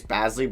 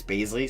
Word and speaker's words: Bazley: I was pronouncing it Darius Bazley, but it's Baisley, so I apologize on that.